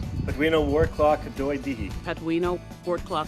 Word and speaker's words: Patwin: We actually have a Patwin, and it's actually spelled Patwin, but pronounced Patwin.